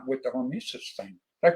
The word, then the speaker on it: hormesis: And you know, that's what you've done with, believe it or not, with the Hormesis thing. Did I pronounce that right? Yeah, Hormesis.